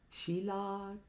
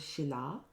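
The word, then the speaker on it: śilā: Shila tanka nakhalaye. It's made up of 3 words. The first is Shila, which means stone.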